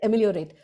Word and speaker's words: ameliorate: Yeah, I hope to ameliorate is it? Is it how it's said? Ameliorate, right? The pronunciation is correct. Ameliorate.